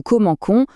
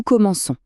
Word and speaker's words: commençons: Pour éviter de dire "Nous comments," C prend une petite sédille et devient ça. Ça nous donne nous commençons avec le son s bien doux.